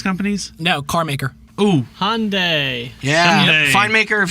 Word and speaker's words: Hyundai: It's pronounced Hyundai.